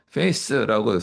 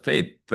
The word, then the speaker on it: faith: 하나는 faith라고 하는 처음에 face라고 수업 시간에 얘기하고 저 얼굴 얼굴인 줄 알았어요. 그게 아니고 이제 th 발음이죠. faith 하는 거.